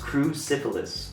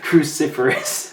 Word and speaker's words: cruciferous: colorless cruciferous cruciferous sibilants say it again for me cruciferous crew syphilis nope for us all right kyle give me one more time crucifor us but pronounced cruciferous that can't be right it is cruciferous yeah cruciferous so uh